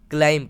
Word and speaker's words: climb: अगला वर्ड है CLIMB, तो B तो हमारा साइलेंट रहेगा और CLIM को हम क्लाइम पढ़ेंगे। क्या पढ़ेंगे? क्लाइम।